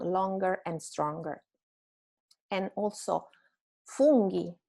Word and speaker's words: funghi: And also funghi, not fungi, funghi, because the U is pronounced U. And the GH sound is always strong.